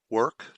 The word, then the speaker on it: WRK: Work, WRK, hella cool.